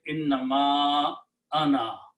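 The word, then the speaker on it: إنما أنا: And because of this alif here that has a hamza, the previous alif will be having a mad on it. So the pronunciation will be innama ana.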